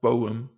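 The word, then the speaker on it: Borom: like seeing him go Larry I believe is pronounced Bowm he went to the Dolphins Matt Prior went to the Eagles.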